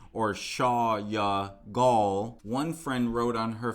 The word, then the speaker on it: Orsolya Gaal: who or shaw yeah i've been pronouncing her name wrong it looks like too or shaw ya gall one friend wrote on